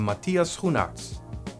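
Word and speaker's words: Matthias Schoenaerts: Lawrence Joel Edgerton and Matias you nuts that's how you pronounce his name in this movie Jayla plays Dominica a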